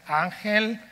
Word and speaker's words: Ángel: to pronounce for english-speakers your free Spanish lesson for the day the way for Plan C is uncle uncle so if you want